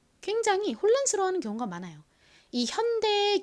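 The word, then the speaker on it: Hyundai: 굉장히 혼란스러워하는 경우가 많아요이 현대의 경우에도 현대라고 읽는 원어민들이 잘 없고요 하윤이 현다 뭐 이런 식으로 요상하게 읽습니다 아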